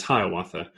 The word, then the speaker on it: Hiawatha: was a man named hiyawata which you know is pronounced generally as hiawatha and he later became